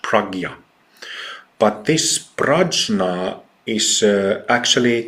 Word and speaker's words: prajna: And it's a very, very important teaching, which, by the way, in Buddhism, they use the term prajna, which is written prajna. It's correctly pronounced prajna.